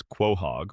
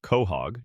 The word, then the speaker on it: quahog: A quahog, pronounced roughly as quohog or cohog, depending on who you ask, is a type of hard-shell clam native to the Atlantic coast of North America.